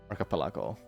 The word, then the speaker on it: archipelago: it arap archapelago a you say ago not belago archipelago I did it right yes archipelago is bonkers is okay I will do this one construct.